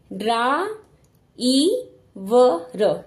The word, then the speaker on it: ड्राइवर: हैं लिखने में देखिए ड के नीचे पदेन की मात्रा है तो आधा ड ड्रा आधा ड छोटा सा ड बोलेंगे ड्रा इ व र ड्राइवर ट्रक ड्रम राष्ट्र ड्रामा